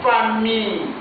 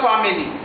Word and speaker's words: famille: Ici, attention, c'est famille. Famille, pas family. Pas family.